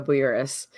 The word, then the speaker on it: Bouyouris: the industry okay so you did pronounce my name right is Erica Boras and Rodney actually messaged